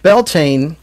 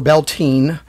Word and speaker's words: Beltane: So Beltane, or Beltane, it's pronounced both ways.